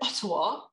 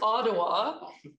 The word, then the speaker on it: Ottawa: i can also say that we really should pronounce ottawa mountain will say ottawa but it's ottawa because um it's actually an indigenous word ottawa